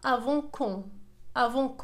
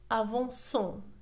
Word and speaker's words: avançons: إذا بدون إضافة لا cd ستنطق avant con وهذا خطأ. لذلك نضيف لا cd لكي تصبح لنا avançons لكي تعطينا le son c avançons.